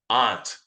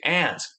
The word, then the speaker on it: aunt: and where you are at least in the United States I don't say Aunt I say Aunt most Americans that I I know say Aunt even though some people will say Aunt all right then there's